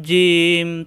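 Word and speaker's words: جيم: একটি নক্তা তার নাম জিম তার নাম জিম আসসালামু আলাইকুম ওয়া রাহমাতুল্লাহ আজকের ক্লাসে আমরা শিখবো জিম অক্ষর জিম জিহ্বার মাঝখান উপরে তালুতে চাপ দিয়ে শক্ত করে উচ্চারণ করতে হয় জিম কিভাবে চিনলাম জিম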